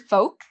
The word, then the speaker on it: folk: bit more informal so with the word folk there's no l pronunciation folk chalk same thing